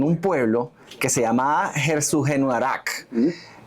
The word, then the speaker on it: Herzogenaurach: Dassler, fíjense, ellos nacieron en un pueblo que se llamaba Herzogenaurach. Escúchenlo bien, Herzogenaurach, que por cierto tuve que escribirlo de manera fonética porque no hay manera de pronunciar esto.